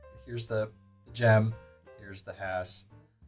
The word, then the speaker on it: Hass: going to compare this to a Hass avocado that is the correct way to pronounce it as your stickler for